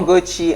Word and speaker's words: Ugochi: All right, so Favour Ugochi Anosike, known professionally as Ugochi, right? That's how you pronounce it.